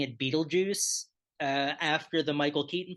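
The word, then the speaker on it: Betelgeuze: to pick the song I don't know if it's pronounced this way but it it looks like it should be pronounced Beetlejuice laughs so and this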